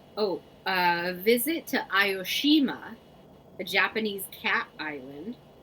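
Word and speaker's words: Aoshima: that Japan yes I am not going to pronounce that right oh a visit to ayoshima a Japanese Cat Island ioshima might be the most famous cat Island in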